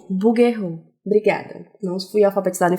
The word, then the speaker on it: Bouguereau: Eu acho que é francês. Bouguereau.